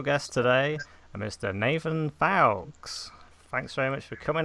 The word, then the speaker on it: Fowkes: I'm told so yeah most people say folks when they see my name written but foul so you